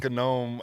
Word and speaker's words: gnome: then the cop's like, if you were a gnome, you'd know that the G is silent. But I'm like, who are you to tell this gnome how to pronounce his own name?